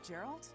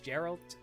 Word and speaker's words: Geralt: Oh, Gerald? He said something. Also, I keep pronouncing his name wrong. I know it's Geralt.